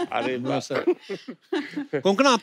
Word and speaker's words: कोंकणा: हमारे पर मुझे लगता है कोंकणा, आपको जब अलग अलग स्टेट के लोग मिलते हैं तो वो आपका नाम सही से प्रोनाउंस करते हैं। और आई एम श्योर अगर आपको कोई पंजाबी मिले वो हमेशा कंकना बोलेगा। कंकना, कोंकणा, क्यों साउथ में तो कणकणा भी बोले हैं।